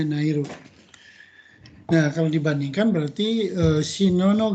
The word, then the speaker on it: ナイル: ナイル川、 Nairu Gawa ya, dibacanya Nairu.